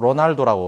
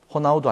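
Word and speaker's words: Ronaldo: 축구 선수 우리가 이제 영어로 로날도 이제 발음할 수 있는데 그 축구 선수도 호나우두 아니겠습니까 그 정도네 뭐 말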